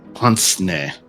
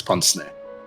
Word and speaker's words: pince-nez: I'm playing it. Ponsney. That's worse somehow. It's French. That's why. It's Ponsney.